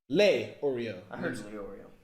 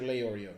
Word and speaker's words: Leorio: after the character told you it's Mr Leorio lay Oreo not the one he said it's a karapika he said it's Mr Leorio yeah it's Mr Leorio lay or Nathan I'm